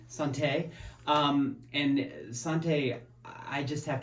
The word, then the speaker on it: Sante: Yeah, Sante. Sante.